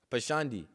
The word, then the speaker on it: pashandi: If you're not chanting the Lord's holy names, you're considered a pasundi, which pretty much means how do you say it? Pasundi, right? Pashandi. So pretty much a pashandi